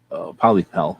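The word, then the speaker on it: Pollepel: Polypel, that's how they say it.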